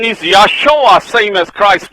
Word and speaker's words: Joshua: The right pronunciation is Yahshua, same as Christ's name, Yahshua.